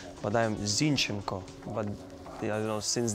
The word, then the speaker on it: Zinchenko: E is you know they used to say zinchenko but I'm zinenko but I don't know since they won they used to pronounce my name like that so I get